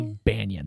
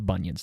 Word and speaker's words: Banyan: It's It's a little bit different pronunciation. Banyons. Mighty Banyan. It's not the bunions, the banyan. The B N Y A N S.